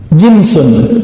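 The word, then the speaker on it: جنس: Jinsun, jins. Pakai jins nggak Pak? Itu beda lagi ya. Jins itu bacanya ya. Kalau ini jinsun, jim nun sin.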